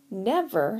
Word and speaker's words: never: Never has 2 syllables. Never, right? So when we say it, we tend to emphasize the first syllable.